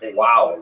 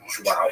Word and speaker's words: João: I used to think it was wow, like when the baby was born, the mother would say, oh, wow, it's a boy. But it's actually João.